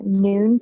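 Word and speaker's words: Nuun: It's Noon tablets.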